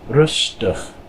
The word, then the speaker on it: rustig: With this word, anytime you have an IG, usually at the end of a word, it makes the I kind of like a short U sound. So this is rustig, rustig.